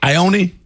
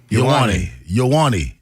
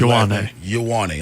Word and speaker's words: Ioane: Ione? Ioane is how you pronounce it. Ioane.